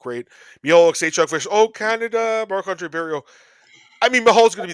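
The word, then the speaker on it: Marc-André Barriault: Marc-Andre Barriault.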